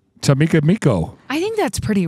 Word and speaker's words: Chicamacomico: Come on, this pronunciation. Chicamacomico. Chicamacomico.